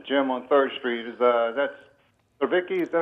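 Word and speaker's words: Cvetic: That's Savicki, is that how you say his name? Jimmy Jimmy Savetic. Savetic.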